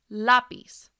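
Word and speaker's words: lápiz: on the last syllable but listen closely lapiz know that stress is on the second to last syllable that is why the accent mark is over that vowel by the way the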